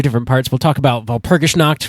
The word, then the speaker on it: Walpurgisnacht: We'll talk about Walpurgisnacht, which is the German pronunciation of Walpurgisnight, and we'll get into all that.